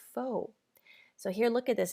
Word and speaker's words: faux: So, notice this looks like fals. Unless you're French, you probably pronounce it that way. It's actually a word that English borrowed from French, so it's pronounced foe.